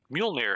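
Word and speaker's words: Mjölnir: It's not quite, don't know how to pronounce that. Hammer. Mjolnir, There sir.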